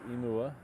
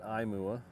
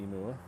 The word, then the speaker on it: Imua: plane it is pronounced emua long vow sounds for Hawaiian not imua as I've heard some people call it on other streams is definitely emua all the vowels have long sounds in Hawaiian language imua means to go